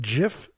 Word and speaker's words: GIF: humphy treated a great GIF which I do pronounce it gif don't care if you disagree wrote uh me trying